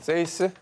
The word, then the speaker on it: 6: 발음은요, 스페인어로 6을 뜻하는 세이스입니다. 저거는 세이스?